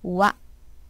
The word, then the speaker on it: は: Always this pronounced as wa when it's used as a particle.